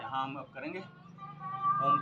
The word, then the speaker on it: ओम: यहाँ हम अब करेंगे ओम का उच्चारण। ओ अ म।